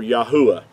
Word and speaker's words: Yahuah: praise unto yah or yahuwah yahuwah being his whole name pronounced out with the four letters instead of the two so i wanted to